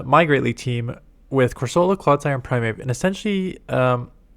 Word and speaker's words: Corsola: Someone says corsola. Is how you pronounce it. So I'll just pronounce it corsola until someone says otherwise.